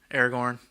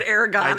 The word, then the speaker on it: Aragorn: I'm calling it now Aragon Aragorn you said Eragon and I didn't say it wrong I'm like Dragon no